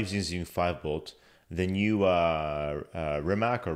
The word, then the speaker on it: Rimac: The new Rimac or Rimas, how is it Rimac. Pronounced? Rimac.